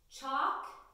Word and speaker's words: chalk: practice of that it words like walk chalk and talk we have the L that is silent so that a is still going to make that sound it's not a double